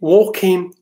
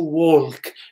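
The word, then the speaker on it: walk: وكاين ووكين، ووكين اسمع، ووكين هذيك ال ما كننطقوهاش. تو ووك ما كنقولوش تو وولك. الا لاحظتي الا نطقتيها الا نطقتيها بهذا، الا نطقتيها باللام كتجي ثقيله. بال ام سوري، الا نطقتيها بال كتجي ثقيله.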